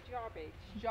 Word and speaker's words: Jarbidge: How do you pronounce this town? Jarbage.